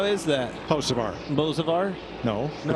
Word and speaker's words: Hocevar: Now here's his teammate Hocevar, who said on social media this week there is a B at the beginning of Hocevar. He says they dropped it because the B is silent.